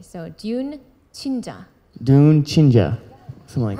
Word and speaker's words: 듄친자: probably be c h i n j so Dune chinja dun chinja something like that perf perfect there